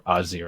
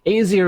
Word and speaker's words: Azir: in the bottom lane or azir i should say easier is the way i've personally pronounced it since he was released because i think it sounds better but i realize when i'm doing commentary i should probably use the proper name so uh yeah in